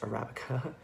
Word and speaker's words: Arabica: video I have learned that Arabica beans are pronounced Arabica as opposed to however I pronounced it last